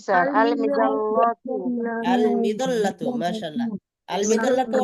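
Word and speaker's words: المظلة: লামের উচ্চারণ আলাদা স্পষ্ট হবে, তাই আলিফ লাম লাগান দেখি। জি স্যার আল মিদাল্লাতু আল মিদাল্লাতু।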